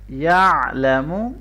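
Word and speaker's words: يَعْلَمُ: यअलमु, आइन को अच्छी तरह से गले के दरमियान से पढ़ेंगे।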